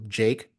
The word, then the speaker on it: JVKE: And that's why, Jake, an artist who came by, it's spelled like JVKE.